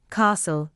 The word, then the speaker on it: castle: The letter T is silent in whistle, castle, listen, fasten, soften, and Christmas.